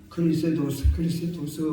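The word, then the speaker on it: Χριστός: 그런데 우리 발음으로 예수님은 예수스 그렇습니다. 예수스. 그리고 그리스도는 그리스도스 그럽니다. 그래서 우리 발음으로 예수, 우리 발음으로 그리스도 이러는 겁니다. 헬라 말로는 이름이 누구나 다 사람 이름에 맨 나중에 스를 붙입니다. 스.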